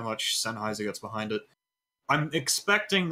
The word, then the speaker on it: Sennheiser: Sennheiser Gaming, yep.